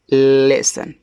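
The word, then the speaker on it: lesson: देखो लिखा है एल E double S ओ एन तो इसको पढ़ते हैं लेसन।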